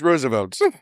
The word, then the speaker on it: Roosevelt: like it should be Roosevelt Roosevelt but it's pronounced Roosevelt the Roosevelt tumbles through space consoles erupt Sparks